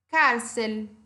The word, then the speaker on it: cárcel: Qual é a sílaba tônica? Men, certo? Departamento. Então, esse men aí é a minha sílaba tônica, por isso eu chamo ela de liana ou grave, essa palavra. Cárcel.